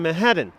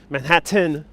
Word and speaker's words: Manhattan: well in all seriousness a lot of new yorkers don't actually pronounce the t in manhattan uh regardless of where